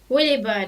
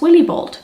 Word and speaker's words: Willibald: Just try to pronounce it with an American accent. Yeah, it's okay, just try a couple of times. I'll wait. Willibird. So I'd say that's Willibald.